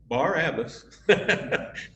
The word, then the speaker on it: Barabbas: Barabbas parallels our story.